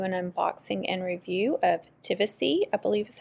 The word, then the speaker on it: Tivisiy: In this video, I'm going to do an unboxing and review of Tivisiy, I believe is how you say it, T-I-V-I-S-I-Y.